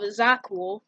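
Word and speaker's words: Zakuul: is that on the wild space planet of Zakul, yes, that's how you pronounce it, or within the game, because Prince Arkin pronounces it like really fast, and he says Zakul is cool, because he has like a little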